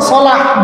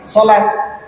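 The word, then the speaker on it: صلاة: Nanti kalau misalkan apa namanya hayya 'alas shalah digunakan pakai bahasa Indonesia, ya hayya 'alas shalat, jadi harusnya memang sholah bukan sholat, ya.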